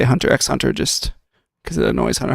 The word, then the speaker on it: Hunter x Hunter: there's no reason the there is no reason that the X should be silent I I purposely say Hunter x Hunter just because it annoys